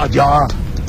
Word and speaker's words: Adjara: Dans la tradition, quand on disait avant Adiara, il faut même prononcer Adiara.